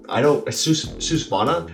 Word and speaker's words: Svanar: Susvana? It's spelled Spanar, but they actually call it a Susvana.